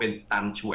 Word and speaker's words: ตัน ฉ่วย: หรือ ตัน ฉ่วย นะ ชื่อ นะ อ่าน ว่า ตัน ชว ตชว ออก เร็ว ๆ ก็ เป็น ตัน ฉ่วย พล เอก ตัน ฉ่วย